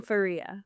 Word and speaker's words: Fareeha: I say my name Faria. That's that's how I silent H.